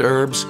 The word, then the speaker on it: herb: 허브가 아니라 영어로 발음하실 때는 herb, s부터서 herbs 아니라 herbs 그리고 뒤에 나오는 and 연결시키면 different herbs and 이렇게 들리게 되죠.